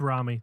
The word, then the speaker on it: Rami: I'm gonna say rammy it's Rami that's the that's how uh they the uh um Egyptians would pronounce it um and he's Egyptian so also speaking of Rami